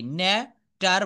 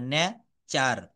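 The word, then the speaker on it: nature: ন্যা টার বলা যাবে না। ন্যা চার। টি এবং ইউ মিলে এখানে চ হবে পি আই সি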